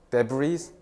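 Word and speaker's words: debris: 써볼까 야 디브이 그 데브리 어 이거 데브리를 묵음이 어 이거 아마 내 기억이 맞다 프렌치 불어에서 왔을 가능성이 없는데 이거 부스럭이란 뜻이야 브리 난리야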